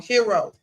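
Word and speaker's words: Herro: I was saying his name wrong. Hero.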